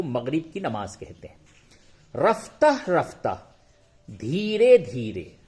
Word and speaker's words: رفتہ: رفتہ رفتہ، دھیرے دھیرے. ہجے یوں ہوگا، رے فے زبر رف، تے ہے زبر تہ، رفتہ.